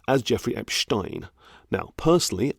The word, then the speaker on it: Epstein: the serial pedophile Jeffrey Epstein as Jeffrey Epstein now personally I would have been inclined to pronounce it Epstein because I know enough German to know how to pronounce that name I have heard it